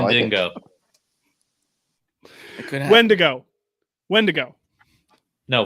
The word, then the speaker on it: Wendigo: It's Wendigo.